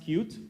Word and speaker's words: Qt: which is actually it's it's supposed to be pronounced cute but it's definitely not